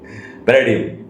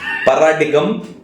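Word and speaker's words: paradigm: पैराडियम, पैराडियम, पैराडियम, पैराडियम, पैराडियम। पैराडियम। क्या बोलने वाले थे उसे? पैराडिगम, पैराडिगिम, पैराडिगी, सब बोलते।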